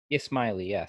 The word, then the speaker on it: Ismaili: particular group or sect of, I believe you pronounce it Ismaili? Ismaili, yes.